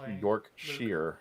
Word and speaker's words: Yorkshire: So Christian Yorkshire is pronounced Yorkshire, not Shire.